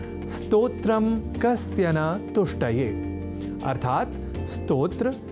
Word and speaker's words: स्तोत्र: यदि हम यह ध्यान में रख लें तो कभी भी स्तोत्र के स्थान पर स्त्रोत्र या स्त्रोत जैसे उच्चारण या लेखन हमारे प्रयोग में ही नहीं रह सकेंगे।